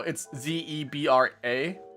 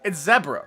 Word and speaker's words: zebra: because zebra, you know, it's zeb r a because you know there's no extended e sound, right? It's ze like you know zeppelin or um you know zephr, right? It's zebra, right?